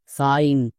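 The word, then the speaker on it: sign: করি আইন যেমন দেখো এস আই জি এন এর জন্য কি উচ্চারণ করব সিগন একদমই না এর জন্য উচ্চারণ হবে আইন কেন কারণ এখানে শব্দের শেষে আই জি এন আছে তার মানে এটা হচ্ছে ওয়ার্ড প্যাটেন এর জন্য আইন উচ্চারণ হবে যেমন এস এস এর জন্য so plus I জি N word প্যাটেন এর জন্য কি হবে আইন তাহলে সো প্লাস আইন এবার একসঙ্গে উচ্চারণ করো কি হবে সাইন এরকম করে আমাদের উচ্চারণ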